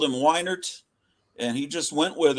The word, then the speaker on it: Weiner: uh I don't know he pronounces it weiner it seems like it would be Winer because weiner is spelled differently than why I don't know the